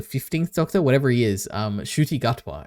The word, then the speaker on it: Ncuti Gatwa: Ncuti Gatwa, I think is how you pronounce his name.